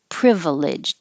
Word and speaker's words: privileged: it privileged upbringing and you can say it with three syllables privileged it's just less common but you can't put